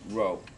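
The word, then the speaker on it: rho: It's pronounced row.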